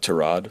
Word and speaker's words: Tyrod: It's correctly pronounced Tyrod, but he doesn't correct people.